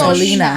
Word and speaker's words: gasolina: but it's in Spanish. Gasolina. It's in Spanish. Say it right.